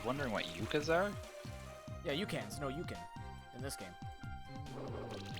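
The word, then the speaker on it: Ucan: Yeah, Yukins. No, Yukin. In this game. Why, do you know? Like, spelled like Yukon?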